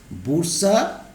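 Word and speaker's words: bursa: Next, ডাইকটিলিনাস embryo এর study করা হয়েছে যে গাছটার উপরে, স্টাডিজ করা হয়েছে যে গাছটার উপরে, সেটা হচ্ছে ক্যাপসেলা বুরসা বা বার্সা, যাই উচ্চারণ করো, বার্সা প্যাস্টোরিস।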